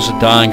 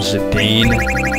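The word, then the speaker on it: Zidane: or whatever but zadan like the French uh football player whatever sounds the best I was calling him zadane but whatever Auto flute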